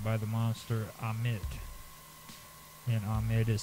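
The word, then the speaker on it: Ammit: And Amit is spelled A-M-M-I-T, and Maat is spelled M-A-A-T.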